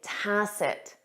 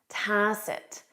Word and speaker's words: tacit: The correct answer is A, tacit, tacit. You won't hear that final T in spoken English, tacit, tacit.